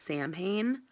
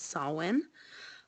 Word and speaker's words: Samhain: some people mispronounce at Samhain um but the proper um Celtic pronunciation is saw one and it's basically the